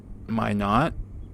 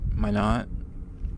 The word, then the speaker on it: Minot: And that was in Minot, North Dakota. I think I'm pronouncing that right. Minot. Minot. And that was kind of the best part of the weekend.